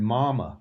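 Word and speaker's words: мама: Well, Russian has it too, but it's not pronounced the same. Mama, mama. And so mama, mama. What is different? It's the hard consonants. And so I get English speakers to start doing the hard consonants correctly as well as the soft consonants.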